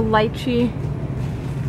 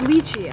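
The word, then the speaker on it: lychee: you think so okay it's leachy okay I'm pronouncing that so wrong then cool got on my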